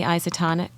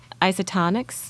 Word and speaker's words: Isotonix: yeah I'm taking the isotonic isotonix I said tonics you said it right yeah good what I